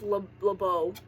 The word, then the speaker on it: LeBeau: It's pronounced LeBeau.